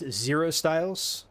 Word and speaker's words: Zrostylz: So it's Zrostylz. That's how I pronounce it, but I've heard all kinds of other pronunciations.